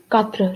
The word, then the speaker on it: quatre: Quatre, like four quarters. Quatre.